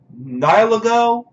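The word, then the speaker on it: Nihilego: Nilago, I believe is how it's pronounced.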